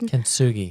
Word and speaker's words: Kintsugi: And I will not try to pronounce that method. Kintsugi.